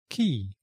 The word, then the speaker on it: quay: It's pronounced exactly like the word key, K-E-Y.